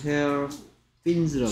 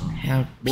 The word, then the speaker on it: hair pins: 왜 발음을 hair fins라고 하냐? Hair pins. 머리 지느러미들이냐? Hair pins.